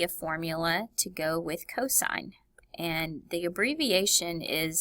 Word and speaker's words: cosine: formula to go with cosine and the abbreviation is C o s notice there's an angle behind it again but it's pronounced cosine and there'll be a